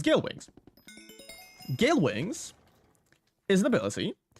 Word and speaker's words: Gale Wings: It is, and now let me not make a fool out of myself by getting the name wrong, it is Gale Wings. That's the word. It's Gale Wings.